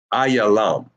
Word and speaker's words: Elam: a m ilam and in Hebrew that is pronounced aalam I ya L why is it l and not LMA is because this connector